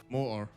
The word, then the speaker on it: moder: Because for me, it means moder. Moder. Yeah, moder, without the "d" in it. More.